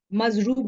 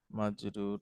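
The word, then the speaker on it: مجرور: মানসুব একই তো আছে মাজরুব হবে sorry sorry thank you madam মাজরুর হবে মাজরুর মাজরুর আবার বলেন ম্যাডাম প্রথম থেকে মারফু মানসু মাজরুর মারফু মানসুব এবং মাজরুর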